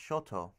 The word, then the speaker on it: shoto: known as the pseudoblade which is smaller actually pronounced shoto continue more for defense so these are just